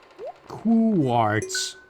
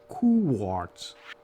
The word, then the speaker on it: quartz: Quartz. If you turn on slow pronunciation mode, that's what she says. Quartz. I guess you gotta make sure you do the coo, so it doesn't say quartz.